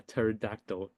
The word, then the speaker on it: pterodactyl: can't you hear a pterodactyl in the bathroom this one's good okay why can't you hear a pterodactyl in the bathroom okay because the p is silent that is so good